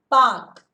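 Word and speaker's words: Palk: It is not pulk, it is L is silent, Rachita there. L is silent, it is Pak. Okay, Pak Strait and one more is Gulf of Mannar.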